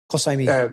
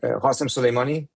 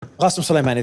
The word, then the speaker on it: Qasem Soleimani: Or can you pronounce it? Qasemi. Qasem Soleimani. Qasem Soleimani, there you go.